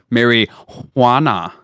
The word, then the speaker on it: marijuana: 300 years ago well the J is silent in Spanish so it's Mary Juana oh right but I'm